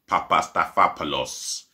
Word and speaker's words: Papastathopoulos: marvel pandas but um socrates papastathopoulos yep i'll pronounce that name right for you i'll do it again socrates papastathopoulos he could be going on a free i